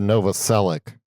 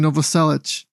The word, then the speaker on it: Novoselic: I always said Novoselic. That's what I said too for years, and then I heard people saying Novoselic. He's like fucking Danish or something. Croatian. There we go, Croatian. Yeah, it's probably with some pronunciation that is beyond our American tongue, but maybe Novoselic, whatever.